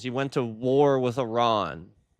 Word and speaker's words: Iran: It's pronounced Iran. Okay. Iron. It's four letters. It is very very easy to say.